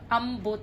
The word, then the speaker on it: ambot: it like that but the proper pronunciation the common pronunciation of ambot is here the stress is in the middle um next is the